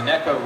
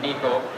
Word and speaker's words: Neko: I used to call it the Neko rig, but it's actually pronounced properly in Japanese as the Neko rig. I didn't know how to pronounce it. Last year I was calling it the Neko rig, and Shin Fukai from Japan is one of the best anglers at this technique. He came up to me and said, no, it's called Neko rig. Not Neko, Neko rig.